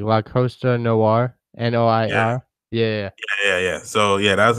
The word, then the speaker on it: Noir: That shit is straight fire called Noir. That's Black Movies Noir. That's how you say it? Like a noir film. Oh yeah, like there was a video game like La Costa Noir, Noir.